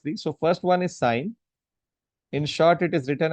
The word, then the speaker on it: sine: So first one is sign. In short it is written as sin n but pronounce it as sign. Don't pronounce it as sin.